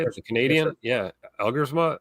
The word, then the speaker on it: Elgersma: Yes, Elgersma.